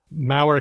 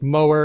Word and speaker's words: Mower: is different from Growler Minnesota's Mau County which rhymes with power not Mower and so on so